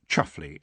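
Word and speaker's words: Chumsfanleigh: this one's having twins roland the chum's family pronounced chuffly under that strange rule that the more gentrified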